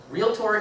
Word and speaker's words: realtor: over and over again realtor is two syllables it is not three they are not realtors